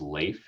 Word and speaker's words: Leif: uh my name is leif it rhymes with safe and it's great to